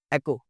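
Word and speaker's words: ache: इको नहीं जी, एको, एको। Chaos, एक है उससे पहले लफ्ज़। एक, 1 2 3 4 नहीं होता, ये वो एक है। दर्द, टूथ एक, बैक एक। एच नहीं बोलना है इसको, एक।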